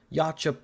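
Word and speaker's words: Yautja: That's how it's pronounced, but Yacha Prime, which is kind of weird that it's called Yacha Prime.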